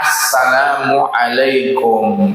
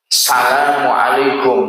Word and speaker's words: assalamualaikum: yaitu assalam paling akalnya assalamualaikum ya paling sempurnanya asalamualaikum warahmatullah ya. Asalamualaikum warahmatullah itu sempurnanya. Dan ketika pengucapan assalamualaikum itu tidak boleh salamualaikum. Mesti ada alif lam makrifat.